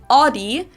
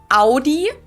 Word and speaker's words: Audi: one is Audi most Americans that I know pronounce it like I just said it Audi in German we say Audi we don't say we say Audi ah I